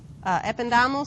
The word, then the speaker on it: ependymal: Microglia, ependymal cells. Some people say ependymal. I say ependymal. Helps me spell it better.